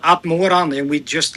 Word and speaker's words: Atmoran: Atmoran, but Atmoran is also good.